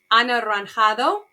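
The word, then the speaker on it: anaranjado: me Rojo Verde Rosa Anna ranjado that one's kind of hard it sometimes helps if you clap your hand because there's five syllables Azul Greece Amarillo Morado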